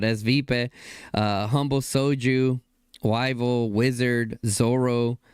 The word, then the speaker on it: Svipe: She corrected me how to say it. I said S-Vibe last time, but Svipe.